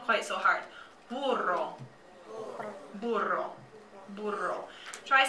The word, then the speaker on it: burro: Both of those kind of make a softer B sound. It's not as hard as boy, okay?